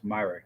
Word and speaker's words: Myrick: with the gear Myrick it's my wreck Not Mirror Myrick thank you Jacob um